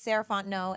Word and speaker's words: Sarah Fontenot: my goodness hi guys again my name is saraon no and you can find me at Miz saraon